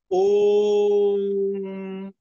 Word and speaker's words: ओम: एक तो था ओम, नहीं, सीधा देखिए उस पर लिखा हो ओ उमा, 3 वर्ड में बना हुआ, तो वो कैसे होगा? ओम। जैसे मुंह बंद करते हैं तो अपने आप ऊ का उच्चारण होता है, ऊ साइलेंट है तो करना नहीं होता। ओ अब माँ करते हैं, आधा श्वास तक ओ का उच्चारण, आधा श्वास तक माँ का उच्चारण।